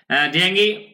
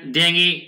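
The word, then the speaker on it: dengue: sugar industry এই যে শিল্প চিনি শিল্পে এন্ড ডেঙ্গি ডেঙ্গি ম্যানেজমেন্ট উচ্চারণ কিন্তু ডেঙ্গু না খেয়াল করুন ডেঙ্গি আমি কি কি বলছি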